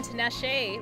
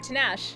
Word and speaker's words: Tinashe: have a crush on Tinashe right or tanash yeah to Nash I said I pronounce the e at the end of her name like when I was